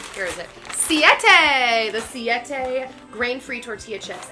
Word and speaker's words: Siete: Savita, here is it? Siete, the Siete grain-free tortilla chips.